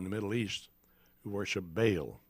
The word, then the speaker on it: Baal: middle east who worship bale b-a-a-l sometimes pronounced ba'al bale the symbol for baal